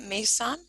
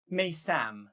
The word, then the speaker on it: Meysam: pronouncing your name right, Mason? Maysam, actually.